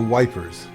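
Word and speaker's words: Ypres: textile center in Flanders called Eep or wipers as the tomies pronounced it on the psalm on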